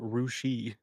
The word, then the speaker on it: Russia: We have a town in Ohio called Russia, but everyone there pronounces it rushi.